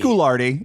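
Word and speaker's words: Guiraudie: by uh alen Gard or however we decided we pronounce it's gardi it's gardi sick um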